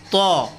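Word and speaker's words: ط: এটা হলো ত, লেখা আছে তোয়া, যদিও এটা বাঙালি উচ্চারণ, আমরা একটু সুন্দর করি, ত, ত। তারপরে হলো জ, জ, শব্দটা হলো জ, জ।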